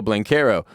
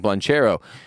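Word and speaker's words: Banchero: were completely sold on paolo blancaro whose name i have mispronounced for months now and been saying blanchero but look the rockets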